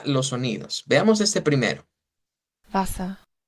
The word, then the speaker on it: Wasser: Wasser, Wasser, Bien, Wasser, notarán que este termina con esto, termina con una A, no está usando la R.